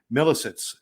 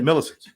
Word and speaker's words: Milisitz: Milisitz. Did I say it right? Yes, you did. Milisitz.